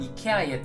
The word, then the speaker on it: IKEA: 며칠 전에는 아이케아에 다녀왔습니다. 어떤 분들은 이케아라고도 하시던데 사실 스웨덴 본토 발음은 이케아에 더 가깝다고 하네요. 미국에서는 아이케아 또는 아케아라고 부르고 한국에서는 스웨덴의 본토 발음에 가깝게 이케아라고 부른다고 하네요.